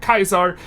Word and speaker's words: Caesar: sometimes called project Caesar which is per correctly pronounced project Kaiser which we are going to pronounce project teaser